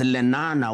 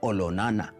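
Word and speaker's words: Olonana: his younger brother now much more famously known as lenana was actually olona to give it the correct maasai pronunciation he was a great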